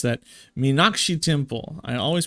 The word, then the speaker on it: Meenakshi: Mekanashi Minak. How do you pronounce that? Meenakshi Temple.